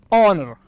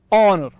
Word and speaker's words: honor: the first one is honor honor okay the world is honor so the first letter H is actually silent is not pronounced okay so the world